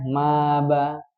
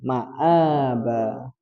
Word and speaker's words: مآبا: Kalau nggak ada hamzahnya, betul cara membacanya maba. Tapi ini ada hamzah maka dibaca ma'aba.